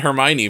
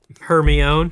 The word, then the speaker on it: Hermione: and I was like okay well everyone's saying Hermione now everybody knows how to say her write her some fanfiction about her me own her be hug love that what if what